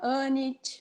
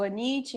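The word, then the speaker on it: Anyte: Como a Erina, como a Nossis, a Anit, ou Anit, depende de como a gente queira pronunciar o nome dela.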